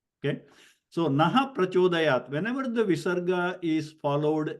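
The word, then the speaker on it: नः प्रचोदयात्: Now we will cover this in more detail when we get into Visarga Sandhi, because this is naha prachodayat.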